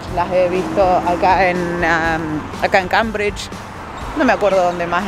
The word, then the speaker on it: Cambridge: En inglés se pronuncia Cambridge.